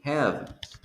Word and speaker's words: have: Same thing happens with have. Have, you don't pronounce the letter E, so eliminate it.